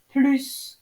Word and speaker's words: plus: On le prononce quand la comparaison porte sur un verbe, il travaille plus que moi, ou sur un nom, il a plus de travail que moi.